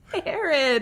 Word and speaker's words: Harrod: And you can find me at Harrod. Is that not right? Harrod. You said it right.